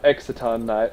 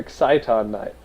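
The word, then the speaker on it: Exciton Knight: yeah sorry evil swarm exaton night or exciton night both pronunciations are correct but i call him excite night yeah he's really good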